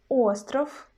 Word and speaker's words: остров: For example, in word остров, остров, остров, where we got V in the end of the word, we pronounce not sound V, but its voiceless pair F.